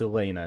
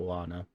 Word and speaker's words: Elena: Okay, apparently it's Elena, not Lana.